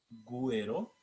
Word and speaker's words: güero: La diéresis se escribe solo para casos en que la sílaba G requiere del sonido de la U. Normalmente, en esos casos la U es muda, pero en ciertas palabras la diéresis marca la sonoridad. Por ejemplo, ungüento güero, pingüino.